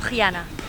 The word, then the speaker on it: Rihanna: Hi, I'm Rihanna. What is it? Rihanna. Rihanna. Nice to meet you. Hana. It rhymes with Vienna.